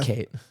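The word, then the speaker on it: Khaite: Would you pronounce that Kate or Kite? Kate. my According fault. to TikTok, it's Kate.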